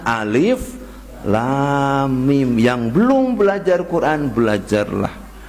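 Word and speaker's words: الم: macamnya seorang anak sebenernya bukan alamak alamak harusnya alif.lam.mim yang belum belajar Quran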